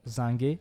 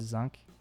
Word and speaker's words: zinc: I do realise that a lot of people pronounce this word zank, basically as zank, everywhere I go except physics teachers, so maybe this is a word that's going to be majority pronounced zang in the future, but like for now,